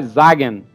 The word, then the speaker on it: Sagen: Em alemão, Sagem é diga. Ah, Sagen. Ah, isso. Ok. Então o termo, o jeito certo de falar é Sagen.